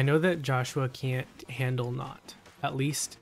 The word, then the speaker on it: Nótt: No, but Fallen Ike does not do well against Nótts. Nótts, I'm sorry. Mispronouncing your name. Nótt.